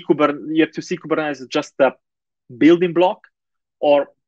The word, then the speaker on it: Kubernetes: kubernetes uh so that's how i try to pronounce it the right way kubernetes but sometimes kubernetes comes out but so you know it's not